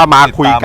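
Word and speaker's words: Makyguns: มา ได้ ที่ เพจ มา คุย กัน นะ ครับ m a ky g u n s ครับ อ่าน ว่า มา คุย กัน ด้วย อ วัน นี้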